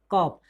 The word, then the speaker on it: cough: में, हेडिंग में, कि कुछ ऐसे वर्ड होते हैं जो कि जी यानी कि जी एच को हम फा पढ़ते हैं।